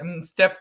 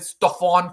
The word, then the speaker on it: Steph: The first thing he did was said Steph Curry's name wrong. He said Stephon Curry, which is wrong.